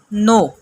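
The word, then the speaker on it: know: نو کے اسپیلنگ دیکھیے. سٹارٹ میں آپ کو کے نظر آ رہا ہے، وہ کے سائلنٹ ہے. اس کے کو ہم نے نہیں پڑھنا، ہم نے صرف کہنا ہے نو.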